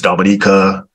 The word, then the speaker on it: Dominica: And you know, it's Dominica, So they can't find it.